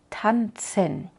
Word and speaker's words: tanzen: sonido que simbolizamos con la letra Z como en tanzen tanzen o Art a pesar